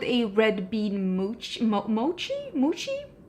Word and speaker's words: mochi: came out with a red bean mooch Mo Mochi muchi how do you say that moochi I have had that when I was in